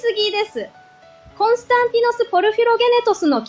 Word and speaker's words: Porphyrogenitus: It's the Palace of Constantine Porphyrogenitus! Excellent pronunciation!